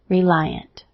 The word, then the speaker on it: reliant: However, the last word, it has its long I sound, reliant.